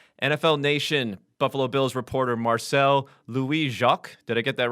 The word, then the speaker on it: Marcel Louis-Jacques: joined today by nfl nation buffalo bills reporter marcel louis jacques did i get that right there yeah you